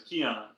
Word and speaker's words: Keon: You said my name wrong. You said Dion. It was Keon.